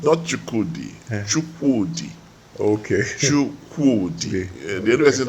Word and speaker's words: Chukwudi: Chukwudi.